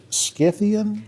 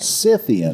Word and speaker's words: Scythian: Now, help me pronounce this. Is it Scythian? Scythian. Scythian.